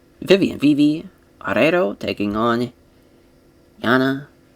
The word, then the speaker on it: Yanan: Viv arero taking on Jana I guess it's yanan yeah yanan Wu that's how you pronounce that but yanan Wu and